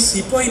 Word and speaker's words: सिपाही: हैं सिरोय मुटनी 1857 अरे वो कोई सिपाही नहीं सिपाही था अंग्रेजी लोग उसको प्रोनाउंस नहीं कर सकते यह सिपाही ना करें